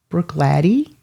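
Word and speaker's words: Bruichladdich: next picture okay so I'm getting a pronunciation on that so Brook Brook latty Brook latty okay that that's that's what I got that's the word that I got that it was Brook latty okay hey DC chill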